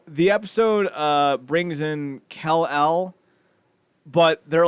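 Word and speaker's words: Kell-El: clone is spelled k-e-l-l-a kell like keenan and kill i here it goes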